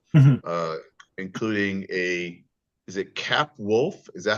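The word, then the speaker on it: Capwolf: on Captain America uh including a is it cap wolf is that how you say it yes where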